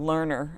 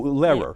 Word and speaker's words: Lehrer: And you do so much with Lerner. I mean, the Lerner. Oh, Lehrer. Lehrer. Tom Why did I say Lehrer. that?